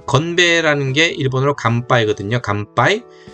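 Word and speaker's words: 乾杯: 감빠이. 자, 보세요. 감 하라는 발음을 하려면 하를 준비하는 발음이에요. 길게 빼 보세요. 가에서 길게 빼 보세요. 감 하 파이 그죠? 입술이 다물리는 음이 뒤에오면은 저절로 이게 미음처럼 들리는 거예요.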